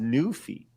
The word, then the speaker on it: Newfie: It says it's pronounced Newfie, as in Newfoundland in Canada.